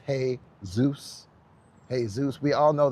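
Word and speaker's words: Jesús: But when we go into Jesus, which is pronounced in in uh Spanish is hey Zeus.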